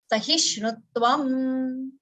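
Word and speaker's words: sahiṣṇutvam: Sh adha and ana. So sahishnutvam. Sahishnutvam. Shnutvam. Sh and ana. Okay. Sahishnutvam. tvam. Okay, this you can practice maybe at home. षट्कोण no sh ane फेण no ana. Okay, सहिष्णुत्वम. So join both those. Sh and ana. Shunu. Like a Vishnu.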